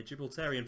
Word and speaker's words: Gibraltarian: We're going to start off as Europa Point in the second tier of Gibraltarian, that is how you pronounce it, yeah, Gibraltarian football.